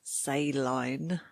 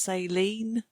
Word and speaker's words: saline: So if you think about the word saline, in American English, that's pronounced saline, and I didn't know